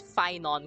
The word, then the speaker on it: Phainon: And I did not know how half of these names were pronounced. I'm happy I got Fon correct at least because if I got Fon corre incorrect I don't know what I do.